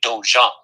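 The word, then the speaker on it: dojang: to as a dojo is japanese it's actually dojong how do you spell that d-o-j-o-n-g hold on d o j o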